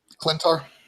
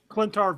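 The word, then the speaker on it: Klyntar: You got to tell me how to pronounce this creature. The Clintar. Clintar Venom.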